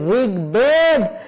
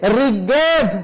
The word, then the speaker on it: ঋগ্বেদ: ব যুক্ত হয়েছে, তাহলে নিয়ম বলছে অবশ্যই এ ব ফলার উচ্চারণ করতে হবে। সেই জন্য আমরা বলেছি ঋগ্বেদ। কেউ যদি ভুল করে বলে থাকে ঋগ্বেদ, 2 নম্বর নিয়ম যদি এখানে অ্যাপ্লাই করে তাহলে হবে না, হবে না।